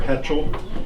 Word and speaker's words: hetchel: called a flax hatchel, or it can be spelled with an A or with an E. You see it both ways, but it's hatchel or hetchel.